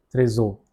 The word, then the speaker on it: très haut: The second one is l'aigle vole très haut, très haut, because of the liaison rule. H is silent over here.